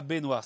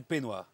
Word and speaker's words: peignoir: Ils ont un petit défaut de prononciation, mais c'est pas baignoire, c'est peignoir.